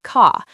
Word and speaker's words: car: In many British accents, car sounds like ka. Water sounds like wata.